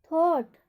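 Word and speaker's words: thought: और थॉट में OU आ रहा है तो वहाँ पर भी AU या OU के उपरांत GH का उच्चारण नहीं होता है।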